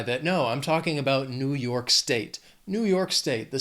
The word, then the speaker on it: New York: Then another very well-known state, New York. 2 syllables, stress is on that second syllable, that second word, New York.